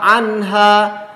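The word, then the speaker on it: عَنْهَا: Wa ma hum anha, anha nun mati kemudian di depannya ha, izhar anha jelas pelafalannya. Anha ha panjang.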